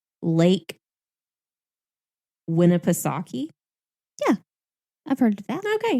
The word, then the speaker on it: Winnipesaukee: miles on oh goodness i know i looked up how to say this and i think it was said the way that i thought it was lake winnipesaukee yeah i've heard that